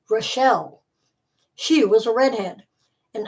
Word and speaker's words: Rachel: an hour later was Rachel pronounced rashelle she was a redhead